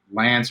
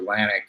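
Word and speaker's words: LAANC: I mean, they came out with their Lance or Lantic, there's different ways to pronounce it, kind of process where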